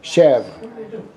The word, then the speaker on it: chèvre: Chèvre.